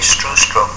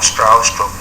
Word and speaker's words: Stroustrup: my name is B native speakers usually get B right but I often have to say strw stroke or stra stroke to be understood um I don't know